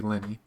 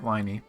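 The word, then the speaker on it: Lyney: pronouncing her name right I've been pronouncing his name wrong makes sense it would be Lenny I've been pronouncing it whiny but okay foreign it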